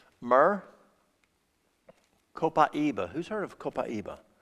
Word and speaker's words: copaiba: copaiba who's heard of copaiba some people pronounce it capayaba copaiba has the highest